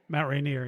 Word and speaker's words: Mount Rainier: Is that how you pronounce it? Mount Rainier, yeah.